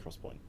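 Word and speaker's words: XPoint: it's called Crosspoint 3D Cross Point yeah or 3D X Point um pronounced Cross Point yeah yeah I love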